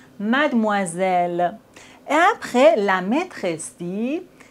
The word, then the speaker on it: mademoiselle: OI se prononce OA, mademoiselle.